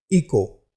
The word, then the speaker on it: echo: हमारा अगला वर्ड है इको, ECHO। यहाँ पर H साइलेंट है, इसलिए हम इसका उच्चारण इको करते हैं, जिसका हिंदी अर्थ गूंज होता है।